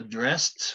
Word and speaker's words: dressed: So dressed with a T, shoved with a D, liked with a T, fitted with a id, slipped with a T.